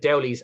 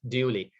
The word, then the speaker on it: Dowley: Oh God, Dowley's of Beach Farm, and it's not pronounced Dooley, it's pronounced Dowley.